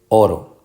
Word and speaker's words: oro: Así que es oro. Esta es la sílaba tónica.